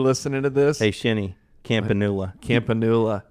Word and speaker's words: Campanula: Campanula. Campanula. He he calls companula campanula. It doesn't matter how you say it as long as you spell it right.